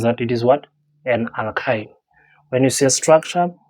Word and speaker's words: alkyne: We have alkyne. Alk and then the ine, that you, how to pronounce the thing. You say alk and then you say ine.